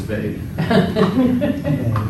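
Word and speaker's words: Weil: his last name was Vey. Perfect. That's maybe not the most eloquent reason to know the last name, but that's the last name. So it's pronounced like Vey, but you'll hear people say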